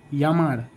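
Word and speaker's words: llamar: जैसे कि एक वर्ड है यामार, तो यामार एल एल इंग्लिश का एल एल ए एम ए आर, लेकिन स्पेनिश में एल एल को वाई प्रोनाउंस करते हैं।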